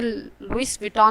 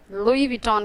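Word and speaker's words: Louis Vuitton: इसे भी अक्सर लोग बहुत गलत कहते हैं, इसे लुइस विटॉन नहीं, इसे लुई विटॉन कहते हैं।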